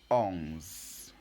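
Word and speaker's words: onze: you read it on you don't pronounce the last e at the end you close it with the Z so again how do you say 11 ohms very good very good and finally we are now on 12.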